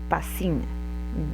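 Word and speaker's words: πᾶσιν: Y el segundo todo eh se pronuncia pasín, viene de la misma raíz, pero son dos palabras distintas en el griego.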